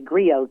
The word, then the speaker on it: griot: still many modern day griots griot's um is another word for oral historian and grio is spelled g-r-i-o-t so once again there